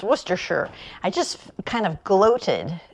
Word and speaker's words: Worcestershire: I know that this even though is spelled as Worchester Shire I know it's to pronounce werer I just kind of gloated every time I said the word wer sure because I felt so